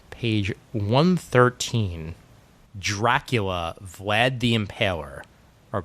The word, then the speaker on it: Impaler: Dracula, Vlad the Impaler. Or Vlad the Impaler. For the proper emphasis on the right syllable.